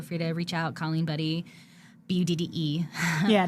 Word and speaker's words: Budde: to reach out calling buddy bde yeah not why uh but it's pronounced buddy like Buddy the Elf or just stop in